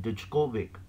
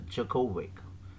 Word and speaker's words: Djokovic: djokovic so people should uh normally say that digovic so it it is pronounced as jokovic so we have some problems in relation to